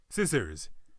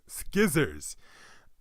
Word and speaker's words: scissors: trip you up and make you think that it's pronounced skizzers, when we know it's actually pronounced scissors.